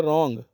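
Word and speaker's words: wrong: Next है रॉन्ग, W pronounce नहीं होता यहाँ पे भी, इसलिए इसको रॉन्ग बोलते हैं, W की आवाज़ नहीं निकाली जाती है।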